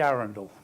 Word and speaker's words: Arundel: my name is Arundel get this pronunciation that's in the town as in the city this is a picture